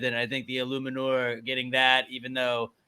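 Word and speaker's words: Eluemunor: Illuminor. Phonetically, yeah. Phonetical spelling. Nice. Props to Darius for that. Because I was kind of like getting stuck on the E and the U. Illuminor.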